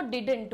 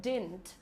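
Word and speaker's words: didn't: बहुत सारे लोग इसको डिडंट बोलते हैं, बट इसका प्रोनाउंसिएशन होता है डिंट।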